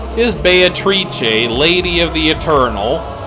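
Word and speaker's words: Beatrice: be pronounced as in the way it's pronounced in the Italian dialect Dante spoke in his bayit reach a lady of the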